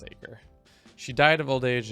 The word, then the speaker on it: Acre: I keep going back and forth on how that is pronounced. I think it's Acre.